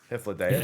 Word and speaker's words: Hythlodaeus: I really like the Hythlodaeus. Is that the way you say his name? Hythlodaeus.